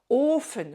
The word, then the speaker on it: Ofen: Euh les voyelles longues, c'est toujours devant une consonne quand il y a une consonne seule. Ofen par exemple, ofen, c'est le four. Et donc une consonne voyelle longue ofen.